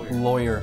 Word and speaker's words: lawyer: first syllable of lawyer lawyer lawyer rhymes with boy lawyer you said lawyer